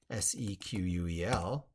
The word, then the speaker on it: SQL: SQL, spelled SQL, but pronounced SEQUEL, is a row and column database.